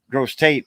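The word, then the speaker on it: Grosse Tête: laugh yet you'd see a sign saying gross Titi as gret or gross Tate as they say over there but it's gr it means bige head in French it's a big mound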